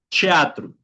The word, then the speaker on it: teatro: Hay ciertas palabras que se pronuncian también como chi, ¿okay? Cuando está al inicio en medio. Por ejemplo, tenemos la el teatro. En portugués se pronunciaría chat, ¿okay? Chatru. Y fútbol sería fuchibow.